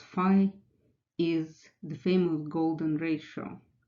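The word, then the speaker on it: φ: Well, that number, pronounced phi, is the famous golden ratio, which is defined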